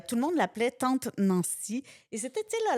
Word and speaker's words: Nancie: Puis pour que les gens prononcent Nancy, on va écrire N-A-N-C-I-E Ah. pour pas qu'ils mélangent avec Nancy.